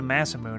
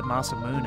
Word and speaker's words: Masamune: never change I think it's not the Massa mode it's the Masamune and like sure but